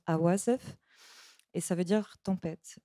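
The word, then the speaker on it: عواصف: mot en arabe, c'est un mot qui se prononce awasef et ça veut dire tempête.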